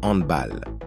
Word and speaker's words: handball: Handball ou handball? On dit football, mais ce mot se prononce handball.